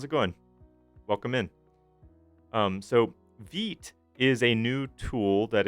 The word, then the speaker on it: Vite: Or sorry, not Vite. I'm so bad about that. Vite is how it's pronounced. Hey, Hannah. How's it going? Welcome in. So Vite is a new tool that is co-developed by